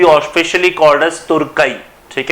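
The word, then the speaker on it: Türkiye: टर्की इज now officially तुर्की। ठीक है, actually छोटा सा प्रॉब्लम हुआ है आपके टर्की की प्रोनाउंसिएशन को लेके, बड़ी प्रॉब्लम थी क्लास, इसको तुर्की कर दिया गया है।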